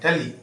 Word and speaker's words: duly: अगला जो वर्ड है उसकी स्पेलिंग है DULY, डली, है ना? DULY, डली मीन्स क्या होता है? विधिवत। क्या होता है? विधिवत। कुछ लोग इसको ड्यूली भी बोलते हैं।